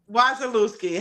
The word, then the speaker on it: Wasielewski: Say your last name because we're not Wazalooki. Wisalooski. Heather Wisalooski. I've been saying it right all day.